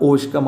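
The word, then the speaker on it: Hauchecorne: പെട്ടെന്ന് പഠിക്കാൻ പറ്റുന്ന ചാപ്റ്റർ ആട്ടോ ഓക്കെ ബാക്കി ഓഷ്കം അയാളുടെ പേര് ഞാൻ വായിച്ചത് ശ്രദ്ധിച്ചോ ഓഷ്കം അതിന്റെ കറക്റ്റ് ഉച്ചാരണം ഓഷ്കം ആണ് ട്ടോ ഓക്കേ അത് ഫ്രഞ്ച് ഉച്ചാരണം ഓഷ്കം എന്നുള്ളതാണ് ഓഷ്കം ജസ്റ് റൈ ഗുഡർവേ ഗുഡർവിലയിലേക്ക്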